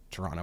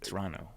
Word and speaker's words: Toronto: Canadian way to say Toronto. We don't pronounce the second T. A lot of people say would say Toronto. Yeah. But Toronto, we say Toronto.